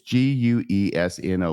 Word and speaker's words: Guesno: or wesno Marty it's g-u-e-s-n-o once again I apologize for my bad pronunciation I will pronounce as guesno Marty in the conversation Janet